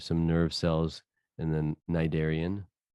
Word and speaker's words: cnidarian: So the ganglia for a flatworm, there's some nerve cells in the cnidarian, and yes, the C is silent.